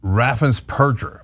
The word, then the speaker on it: Raffensperger: All right, so Greg, let's first talk about the irony of Brad Raffensperger, as it turns out, is how you pronounce it.